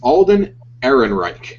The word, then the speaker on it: Alden Ehrenreich: Alden Ehrenreich has been cast as the famed smuggler, and we can now confirm it's true.